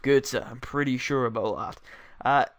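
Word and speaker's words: Götze: thinking of is Mario GZA and yes it's pronounced GZA I'm pretty sure about that uh I've seen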